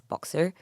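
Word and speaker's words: BXHR: It's pronounced as Boxer. Mhm. Uh basically it's box her.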